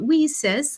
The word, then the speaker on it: WiCyS: go by our acronym wheesis and it's spelled w-i-c-y-s we pronounce it we sis like we sisters because that's exactly what